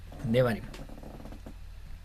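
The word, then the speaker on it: דברים: Como está al inicio de la frase se pronuncia de barrim. Debarim.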